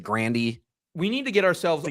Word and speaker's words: Grande: Ariana Grande goes by Ariana Grande but she herself pronounces it Grandandy.